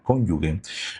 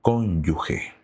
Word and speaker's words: cónyuge: te quiero decir que la palabra cónyugue no se dice con g de gato, sino que se dice con g de gente, hacia g, no g. Entonces, cuando digas cónyugue, lo correcto es decir cónyuge.